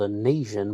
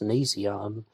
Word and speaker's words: nasion: did i know i thought it was called an asian but i checked the pronunciation it says nasion the nasion bone is above her eye level